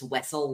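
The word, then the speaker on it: Wesell: made the comparison that it's Wessel like the Duke of Wessleton pronounces his name from Frozen from Frozen.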